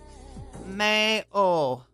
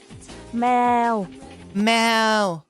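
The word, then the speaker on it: แมว: So, the word for cat, mayo. Wait, let me make sure I got this right. I think I think it's mayo, which sounds a lot like meow. Mel. It's Mel.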